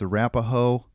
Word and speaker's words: Arapaho: It's Arapaho. Can you spell it for me?